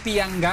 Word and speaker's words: pianggang: Paano niyo pronounce? Pianggang? Pianggang. Pianggang. Chicken pianggang native sa Tausug.